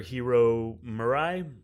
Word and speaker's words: Hiro Murai: and Atlanta, the director, Hiro Murai, I believe is how you pronounce his name, but he directs a couple of episodes of Barry, and that was really...